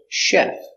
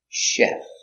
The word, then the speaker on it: chef: truck very good example chef so we have the CH but we pronounce it salt Chef don't say Chef say chef he's a chef and he's